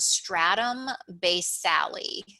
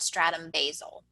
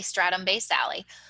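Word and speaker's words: stratum basale: the epidermis and this layer is called the stratum based sally we'll talk more about this one in a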